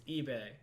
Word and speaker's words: eBay: hand, it's not E-boy, you idiot. It's eBay. Say it right.